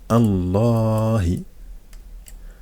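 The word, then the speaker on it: الله: le LEM qui avant en fait on le prononce pas donc on dit directement Allah je passe directement de là pourquoi parce que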